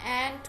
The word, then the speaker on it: ant: आंट AUNT वाला आंट होता है, जिसको इंग्लिश में आंटी वाला आंट होता है. सो इसकी प्रोनाउंसिएशन एंट होती है, नॉट आंट.